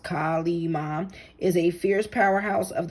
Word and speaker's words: Kali Ma: So Hindu goddess Kali Ma, pronounced Kali Ma, is a fierce powerhouse of the creative feminine